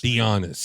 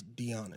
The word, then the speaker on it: Dionys: Dionys. Like if you're saying let's be honest, yep. It's Dionys.